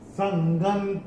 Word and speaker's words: संगं: हम देख रहे हैं, इसमें जो है ग के ऊपर ये जो अनुस्वार आ रहा है, अनुस्वार के बाद का अक्षर है त, और अनुस्वार के बाद जब त आता है तो अनुस्वार का उच्चारण होगा न।